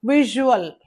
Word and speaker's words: visual: Next, visual. Same sound. Okay. Visual. V I S U A L. Uh root is vis. But in word that za sound becomes ja sound.